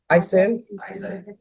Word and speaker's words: Isaiah: How do you pronounce your first name? Isaiah. Isaiah? The H is silent.